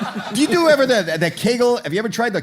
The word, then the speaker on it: Kegel: Do you do ever the Kegel? Have you ever tried the Kegel? Oh, I tried the Kegel, right. Kegel or Kegel? I don't know. I'm Jewish, so everything rhymes with bagel.